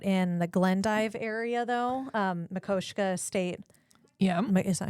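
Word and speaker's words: Makoshika: I will say out in the Glendive area, though, Makoshka State. Yeah. Is that how you say it? Makoshka State Park.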